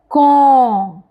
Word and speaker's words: quand: Yes, last letter D is silent and letter A and N together gives a sound on. On. So this word will pronounce like quand.